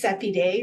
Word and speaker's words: Seppi Day: So my name's Seppi Day, rhymes with happy day, so you can remember it more easily that way.